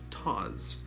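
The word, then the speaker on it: Tawse: It's actually pronounced like pause or laws. Tawes, T-A-W-S-E, Tawes, with the Z sound instead of an S.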